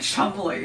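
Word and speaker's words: Cholmondeley: So is it actually pronounced Ford, or is there some complex English pronunciation that we just don't know? Ford. There are It's a like few- Chumley.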